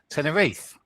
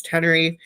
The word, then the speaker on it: Tenerife: Am I pronouncing that Tenerife. correct? Perfect. You're the only person that ever said Tenerife properly. Americans always go Tenerife.